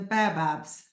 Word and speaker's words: baobab: Monique has asked, how do you pronounce the Baobabs?